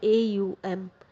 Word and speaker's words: ओम: आप बोल सकते हैं, AUM, करके आप उसका उच्चारण कर सकते हैं। मतलब ओम इसको बोला नहीं जाता है, ओम लिखा जाता है, लेकिन करके इसको बोला जाता है।